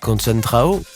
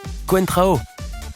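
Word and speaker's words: Coentrão: pas pu s'empêcher de sourire en entendant la prononciation du journaliste. Con Trao, qui est ce joueur ? Quentrao.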